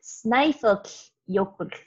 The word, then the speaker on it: Snæfellsjökull: So it's pronounced Snaefellsjökull, and jökull means glacier in Icelandic.